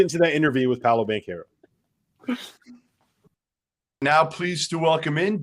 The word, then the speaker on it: Banchero: that interview with paulo bank here now pleased to welcome in duke freshman paolo bencaro i got the pronunciation right this time paulo so i apologize